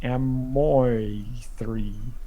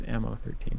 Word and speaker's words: Ammo13: I almost tried to pronounce this one as if the 1 and the 13 was like an I, and I was gonna be like Amoy3, but then I was just like, no, it's Ammo13.